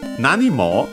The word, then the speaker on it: nanimo: Nanimo, according to the dictionary here, is actually unaccented, so be careful.